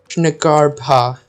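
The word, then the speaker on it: Jnagarbha: So you do pronounce the J. It's not just ba, it's baha. Shnagarbha. Baha. Shnagarbha.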